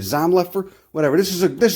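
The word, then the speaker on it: Zomlefer: know you got zom zomlifer's book i know you pronounce it zom leffer whatever this is a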